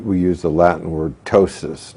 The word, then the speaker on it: ptosis: use the Latin word tosis now the p is silent so it's PTO sis you would if you